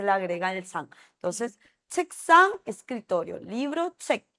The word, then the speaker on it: 책: El check con De el check, o sea, el libro decimos check, pero el escritorio donde también Ujú.